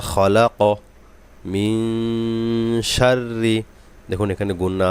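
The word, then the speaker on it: خلق: মধ্যে তবাই মধ্যে আসলি আবার দেখুন আগের আয়াতের মত এই কফে কলকলা করতে হবে সাকিন করে এটা একটা কলকলার হরফ মিনারি মালাক এই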